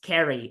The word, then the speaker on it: Ceri: That's pronounced Kerry. It means love in Welsh.